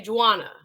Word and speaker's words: Juana: The J is pronounced, so I'm gonna say Juana.